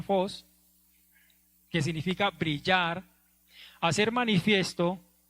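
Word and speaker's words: φῶς: griego significa 2 y cómo se pronuncia fos qué significa brillar hacer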